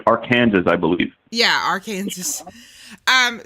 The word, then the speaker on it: Arkansas: where that is Arkansas okay Arkansas but you pronounce it Arkansas but if you spell it out it looks like Arkansas's I believe yeah Arkansas um so there's a